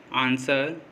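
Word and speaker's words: answer: जब भी S के बाद अगर W आएगा तो W साइलेंट होगा। जैसे आंसर, सोड।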